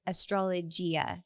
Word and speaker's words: Astrologia: So not astrology, it's Astrologia. So IA at the end.